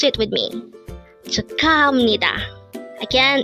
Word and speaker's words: 축하합니다: Again, it's 축하합니다. But take note, even though the spelling of the third syllable is that of hap, it is still pronounced as ham because the next syllable to it is ni.